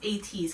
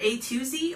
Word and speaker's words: Ateez: be known as 80s I believe the toss pronounced 80s because it's felt a te easy is either it sounds like either A to Z or it's gonna be 80s like a te ase but pronounced 80s I don't know I